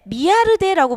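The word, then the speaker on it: Millardet: 그리고 이제 그 밑에 이제 미아르데라고 부릅니다. 이게 이제 영어로 표기되어 있지만 이게 프랑스 식물학자에서 발음을 미아르데라고 합니다만, 어쨌든 이분도 이제 표도나무가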